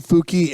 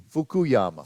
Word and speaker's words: Fukuyama: kick you upstairs but you guys are saying fuki and it's fuku fukuyama fukuyama don't know man